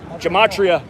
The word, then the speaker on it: gematria: effect sports on youtube gematria spelled like gem gem at 80 and then ria kind of like the sporting goods store gematria thank you appreciate you